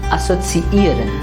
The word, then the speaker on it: assoziieren: There are two e's in the verb, and they should be pronounced separately.